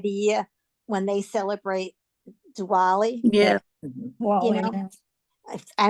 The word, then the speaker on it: Diwali: And one day at lunch we're talking because it was coming up to this time of the year when they celebrate Diwali.